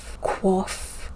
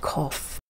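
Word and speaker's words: coif: the 17th was the cough quite quaff i will be pronouncing it cough it's quite simply a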